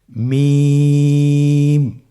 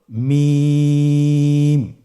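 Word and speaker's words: ميم: মিম হরফটি উচ্চারণের ক্ষেত্রে অবশ্যই বারিক হবে, পাতলা হবে এবং তিন আলিফ টেনে উচ্চারণ করতে হবে। আমার সাথে আরেকবার চেষ্টা করুন। মিম। আবার বলুন মিম।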